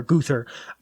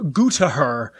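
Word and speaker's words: Gruthar: t h a r guther I looked up how to pronounce it and it was like goo to her and I was like that's not correct so I'm going to say guther the Dwellers of 13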